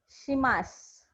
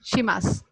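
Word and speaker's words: します: So dozo Dozo yoroshiku yoroshiku onegai onegai shimasu. shimasu. So the Okay. last word is, don't pronounce the last word as shimashu. It is shimas only. The last u is silent. Right. Okay. It's shimasu.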